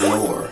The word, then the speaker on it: Knorr: So the K is silent. So it's Knorr.